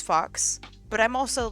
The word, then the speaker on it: Phaux: I would probably say it as fox, but I'm also like a furry weeb, right?